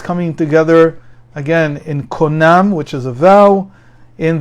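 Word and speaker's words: קונם: You say konam.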